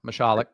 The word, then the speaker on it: Mashalik: Yeah, Mashalik. Well, here, let's look at this. Let's look at this. Mashalik. Yeah. Or you could have just gone with me when I said Mashalik, but it's okay.